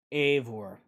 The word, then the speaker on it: Eivor: Ivor? How do you say that? Eivor. That's it.